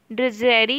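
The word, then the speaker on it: drudgery: ड्रजेरी यहाँ पे D silent होता है, ठीक है, इसका मतलब होता है डल या ट्राइट।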